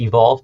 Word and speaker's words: EVQLV: it's it's evq lv calm so that's it's pronounced evolve but the reason it's evq olv it's the